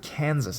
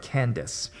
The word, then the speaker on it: Candace: He can't say my name, and for some reason, always pronounces it Kansas instead of Candace.